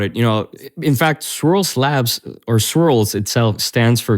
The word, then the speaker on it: Swirlds: 100 clear to me but swirled and my pronouncing right swirled Labs that's right swirls Labs okay yeah it's a bit of a mouthful